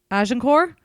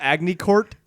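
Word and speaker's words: Agincourt: of aenor was everything is that how it's pronounced aenor say I'm right say I'm right say I'm right it's not Agy Court I think you might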